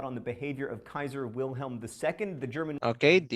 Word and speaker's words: Wilhelm: read this one phil wilhelm because in german dr w pronounces letter v wilhelm so you read it